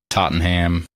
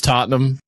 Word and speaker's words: Tottenham: Angeles AC Milan Paris Tottenham I like you pronouncing these names it's funny did I did I not do any of them right um you say Tottenham Tottenham Real Madrid it's Tottenham um and what was